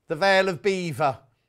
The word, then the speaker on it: Belvoir: posh then the veil of belvoir is actually pronounced the veil of beaver not quite so posh where'd you live there belfoir oh you mean the veil of eva oh